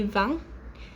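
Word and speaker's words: vingt: as i go so for 20 the french say vang even though it really doesn't look like that from the spelling and 30 they say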